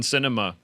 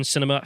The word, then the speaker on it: Sinema: And then they're really just ensuring that Kristen Sinema, it sounds like a sort of. I've heard it pronounced both ways. Yeah, it sounds like a world cinema season at Yes. an art theater.